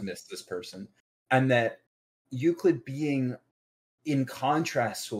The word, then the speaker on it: Euclid: And to me, what it is that Rain and Euclid go, that's even how you pronounce it, go hand in hand.